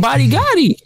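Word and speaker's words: Badi Gadi: Rudy is for them body Gotti shows up and bodies everybody stop that's his name body Gotti his name is Buddy Gotti for real b-a-d-i-g-a-d-i body that's what he said so are you serious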